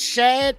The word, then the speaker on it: Shad: look apparently is it is this shad that's how his name is pronounced shad moss shad or